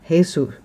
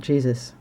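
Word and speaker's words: Jesús: is Puerto Rican so he pronounces his name hey sue not Jesus and he's quite soft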